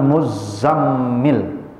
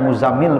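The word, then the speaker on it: المزمل: Kita baca ayatnya, auzubillahi minasyaitonirrajim, ya ayyuhal muzammil. Jadi bacanya bukan muzammil, Pak. Muzammil. Double tasdidnya ini.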